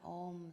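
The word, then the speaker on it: Aum: throat with the ah it's actually three four syllables first is the ah arises in the back of the throat then the ooh in the center of the mouth and then at the lips you close the lips and the sound returns and the fourth syllable is the silence behind it so let's just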